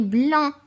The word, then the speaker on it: blanc: Et puisque c'est un, alors je mets blanc. AN et à la fin un C que je ne prononce pas.